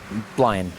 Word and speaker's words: Blind: Blind. That's Thank you. Basically Brian, but with an L.